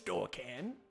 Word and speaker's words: Dorcan: oh i didn't throw it my name is dorcan not to be confused my brother door cannot how do you spell that d-o-r-c-a-n okay cool thank you berkin i